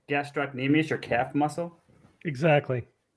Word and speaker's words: gastrocnemius: the calf muscle oh do you pronounce it gastric gastroc gastrocnemius it's gastrocnemius but we call it the gastroc for short all